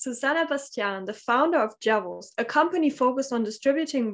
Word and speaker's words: Jevels: company yeah so um we pronounce uh tools uh or virtual jewels for us is javels and this is also the name of the company um it's uh actually